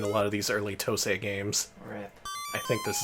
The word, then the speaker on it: TOSE: It's pronounced TOSE, not TOSA.